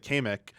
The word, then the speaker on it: Kamek: down marketing speaking uh the pronunciation of the they said kmek oh yeah i was like what what'd you say is that how you say it i was like apparently 90's nintendo of america that is how you pronounce it kamek uh i like that